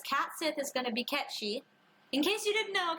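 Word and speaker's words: Cait Sith: if is gonna be catchy in case you didn't know cats it is pronounced catchy it's Irish it's Irish and Scottish and it's pronounced catchy until 2021 yeah yeah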